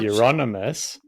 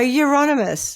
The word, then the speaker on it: Euronymous: No, Euronymous. Oh, Euro It sounds as like in some mouse called Eurovision. Yeah, Euronymous. Euro. It's like he's Nymus. Like Dixie yeah, like, Nymus. it's anonymous, but he's from Europe.